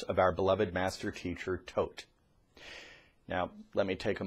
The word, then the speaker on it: Thoth: years ago named Thoth now that spelled at th o th but it is pronounced Thoth master teacher Thoth is his full title and